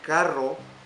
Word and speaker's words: carro: For example, caro is expensive, and carro, it's a car.